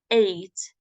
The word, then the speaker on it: ate: Please pronounce this as the number 8. Okay. In the present, we pronounce it as eat. Eat in the present, but in the past, ate.